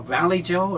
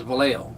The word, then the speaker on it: Vallejo: where did you live and this is a valley joe and i said what valley that's why they pronounce it back no that's it's actually villego yeah you know it's what they pronounce it out there is vallejo yeah you know like san jose they'll call